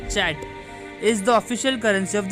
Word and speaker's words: Kyat: Myanmar Kyat is pronounced as Chat.